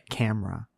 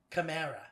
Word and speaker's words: Camera: a beautiful woman's name camera camara that's how people would pronounce it but it's not is this is your name camara no i get that a lot my name's cam it's camera and her last name